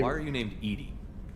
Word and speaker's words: EDI: why are you named Edie Ed is the phonetic pronunciation of e di that is an acronym